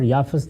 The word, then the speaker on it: یافت: ہے اور ایک یافت۔ یافت اور یافس دونوں تلفظ ہیں، اسی طرح سم اور